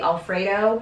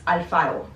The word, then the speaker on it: Alfaro: Like, I often get mistaken as Kimberly Alfredo, even though my last name is Alfaro. And even saying Alfaro is very American. It's Alfaro.